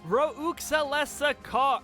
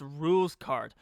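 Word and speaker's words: Rouxls Kaard: We continue to progress through this dangerous castle until we realize that we walked into yet another trap, Roklesa car. Oh, wait. It's pronounced rules card.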